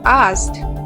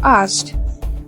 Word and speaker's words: asked: Lastly, for the word asked. 3 people still pronounced it as ask instead of asked, whereas another one faced an orthographic-related issue by pronouncing the t sound with id sound.